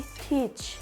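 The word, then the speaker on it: teach: बाद ए आ जाए तो ए क्या होगा साइलेंट होगा जैसे कि टीच टीच अब इसमें ए आ रहा है अगर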